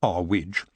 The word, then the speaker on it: Earwig: of her manor house mrs earwig pronounced our widge got the news while